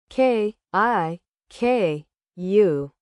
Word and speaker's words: kiku: K I K U. I listen to music. Kiku sounds like kick.